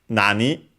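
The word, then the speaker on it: 何: And then we have nani, again, what, accent on the na.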